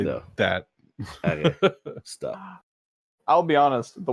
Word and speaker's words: arrêt: ever pull up to an arrête sign? A what? To a what? Arrête?